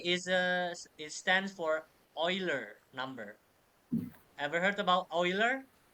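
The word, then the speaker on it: Euler: I I I is a it stands for Oiler number ever heard about Oiler Max Oiler ever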